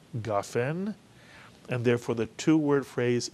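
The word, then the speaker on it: גפן: of the word is gaen gofen and the vertical line under the gimmel next to the kamat tells us to Accent the ga in the word gaen and therefore the two-word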